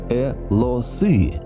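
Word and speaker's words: 俄罗斯: культуру Западной Сибири описывают «э-ло-сы», что в переводе означает «русский». Поскольку у китайцев проблема с произношением звука «р», то слово «урусь», а именно так монголоиды всегда называли русов, у них трансформировалось в «э-ло-сы».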